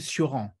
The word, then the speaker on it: Cioran: lived in France most of his life, Émile Cioran.